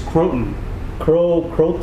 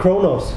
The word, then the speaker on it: Croton: Croton, yeah, like the kind of not Kronos. Not Kronos. Croton. Croton is also a name of a food item that you would add to salad. Croutons. It's pronounced Croton, but it's the same spelling.